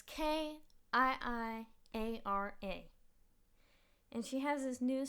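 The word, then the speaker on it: Kiiara: I don't know if it's like Kiara, but it's Kiiiara.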